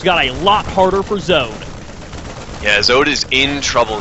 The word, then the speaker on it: Zode: Zode. It's honestly one of my favorite usernames I've run into in the ASL. It's so, like, the one syllable is great, and it's nice.